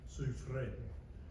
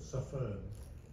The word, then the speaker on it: Suffern: The name originally came out of France somewhere, so they pronounced it Suffren and put the R and the E back the other way. My ancestors then went to Northern Ireland and pronounced it Suffern. So you just say the word suffer and then you just sort of let an N fall out and you got it pretty close.